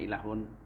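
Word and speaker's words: إله: Inilah makna ilahun. Itu bacanya ilahun.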